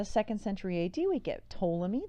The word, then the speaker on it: Ptolemy: Then we get in the 2nd century AD, we get Ptolemy, that P is silent, and Ptolemy says that,